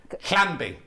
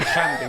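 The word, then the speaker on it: Llangbi: Clanby. If it's Welsh, it'd be Clanby, when it like If I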